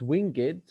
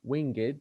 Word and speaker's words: winged: But at my back, I always hear times winged, you see, winged, not winged, winged, so it becomes two syllables, winged chariot hurrying near.